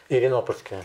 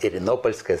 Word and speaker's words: Иринопольская: Иринопольская. Иринопольская. Заметьте, как ставится ударение.